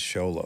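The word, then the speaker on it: Xolo: movie yeah Blue Beetle Zolo sounds right sholo z w Lolo I think it's sholo I got a pronunciation right here okay Ray Romano we're getting a pronunciation Zolo Mari it's not Zolo I mean it probably is technically Zolo that's not what his name was on set okay Reay Ray Romano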